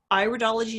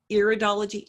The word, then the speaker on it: iridology: study of everything in here it is correctly pronounced iridology not iridology iridology would be I guess studying your ears